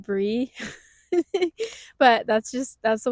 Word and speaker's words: Brey: So, I guess to start, my name is Bree. It's actually short for Aubrey, which is why it's spelled with a Y.